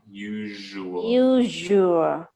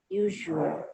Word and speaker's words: usual: Usual has a Z sound. Usual. Usual.